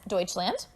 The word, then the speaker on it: Deutschland: So in German, in the German language, which is what they speak in Germany, okay, you actually pronounce Germany as Deutschland, okay? So they call it Deutschland, so not Germany.